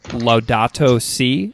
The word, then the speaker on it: Laudato Si: I'm on page 191 of your book right now, and so is the Pope's encyclical called Laudato Si?